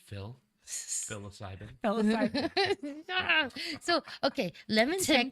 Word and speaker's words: psilocybin: No, That's psilocybin. Psilocybin. Psilocybin. Psilocybin, yeah. Oh. That doesn't even start with a P, but it does. Psilocybin. What's your name? Phil. Psilocybin.